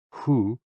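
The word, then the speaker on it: hoo: associated with the kidneys h-o-o pronounced like who which is associated with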